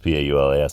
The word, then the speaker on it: Paulas: programming can look at my name and see P-a-u-l-a-s and say that's Paulas and pronounce it exactly the same way I pronounce